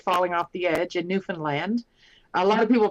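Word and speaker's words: Newfoundland: in Canada without falling off the edge in newfinland a lot of people pronounce it New Foundland but it's uh natives call it Newan land um and uh yeah so I got to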